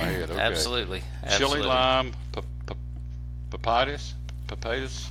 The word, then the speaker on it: pepitas: Chili lime pepitas. Is that how you say it? Yes, sir.